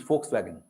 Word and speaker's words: Volkswagen: backfired so it can it is never pronounced as V it is pronounced as F and so your name